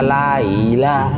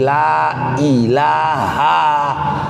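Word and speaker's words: لا إله: dizahirkan, dinyatakan, la ilah, tidak boleh dibaca la ilah, tapi la ilaha, hanya panjang, la ilaha illallah.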